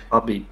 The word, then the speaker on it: Khabib: Because he's Coach Khabib now, or Habib. Habib. K is silent. Habib. Remember, it's silent.